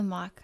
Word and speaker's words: Mock: really like to say thank you to to mock i've been saying it mac the whole time and i'm so sorry for saying your name wrong but thank you so